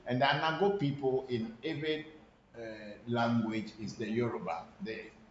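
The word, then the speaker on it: Eʋe: It's not Ewe, but it's Eve. But because the word Ve cannot easily be pronounced, that's why people are using W to represent it by saying Ewe people.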